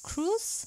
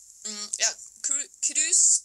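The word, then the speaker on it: krus: But speaking of Norway and wool, you also have a new project that you call Cruise, if I say it correctly. Can you talk a little bit about that project? Cruise, spelled K-R-U-S, is the Norwegian word for crimp.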